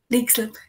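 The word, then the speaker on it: Leixlip: That's How is it pronounced again? Lexlip.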